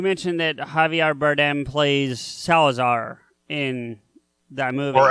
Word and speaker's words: Salazar: that Javier Bardem plays Salazar in that move or as he pronounces in proper Spanish Salazar whatever um I'm not